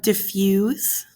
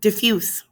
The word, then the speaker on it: diffuse: three words we have diffuse oh sorry I said that wrong diffuse it has a s sound not a z sound um I often mispronounce